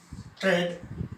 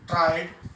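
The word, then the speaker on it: triad: Traid, tried. Now in both way we can pronounce it.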